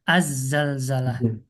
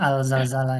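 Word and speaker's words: الزلزلة: Berarti tadi bacanya harusnya azzalzalah. Azzalzalah seperti itu. Tapi orang Indonesia kebanyakan ana dengar ya alzalzalah ya salah aja sih.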